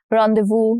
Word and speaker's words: rendezvous: Randdevu again s letter S is silent here.